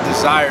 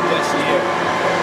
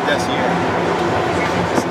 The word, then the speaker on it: DESIAR: So I misspelled it and I pronounced it DESIAR. See here? DESIAR. A lot of people think it's desire, but it's DESIAR.